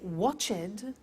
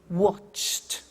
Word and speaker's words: watched: the pronunciation becomes T we don't say watch it we eliminate the e and we say watched okay interesting hey so